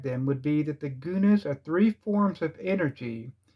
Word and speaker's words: guna: elements are called the three gunas are yunus or hunus I pronounce it Guna they are called rajas